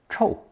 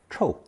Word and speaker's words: 臭: It's pronounced fourth tone chòu in the colloquial language, but xiu in a more elevated style. We'll begin with the more conversational pronunciation chòu.